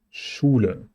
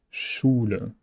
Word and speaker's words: Schule: SCH is one new sound, Schule, Schule.